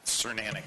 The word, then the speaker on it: Cernanic: Cernanic, rhymes with ceramic.